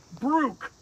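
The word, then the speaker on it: Brough: You see B-R-O-U-G-H, Brook. And believe me, I can't pronounce some of these names. Brugge.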